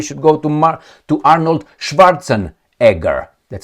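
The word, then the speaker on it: Schwarzenegger: I mean we should go to to Arnold Schwartzen Edgar. That's how you pronounce it. Not Schwartza Negger.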